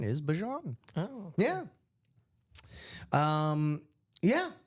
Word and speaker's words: Bijan: as saying the correct pronunciation is Bijan. Oh. Yeah. Yeah, Bijan Robinson.